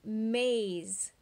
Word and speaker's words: maze: the Apple it's a maze do you hear the a sound my eyes look there's an e at the end it's our friend silent E so it's gonna make the a say a hmmm haze so we